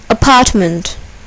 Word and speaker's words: apartment: Here, the second syllable is accented. Metropolis. Apartment.